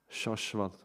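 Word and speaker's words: śaśvat: And when there is a dot above S, like in the word, then you put the tongue up, shashvat, like that word, shashvat.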